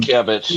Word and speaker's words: Sienkiewicz: Um, Sienkiewicz, yeah.